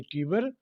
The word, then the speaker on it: Tiber: हैं ना, वैसे ही टीबर, टाइबर भी बोल सकते हैं, दोनों राइट प्रोनाउंसिएशन है।